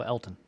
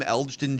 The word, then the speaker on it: Elgton: So, Elton. Okay. So, the G is silent.